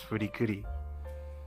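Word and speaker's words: Furi Kuri: said fully coolly yeah but in Japanese I think they they pronounce as fruity kuri yeah that that sounds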